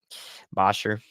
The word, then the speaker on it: Bossier: watch it out in Bossier City basher one of those pronunciations all right the storm's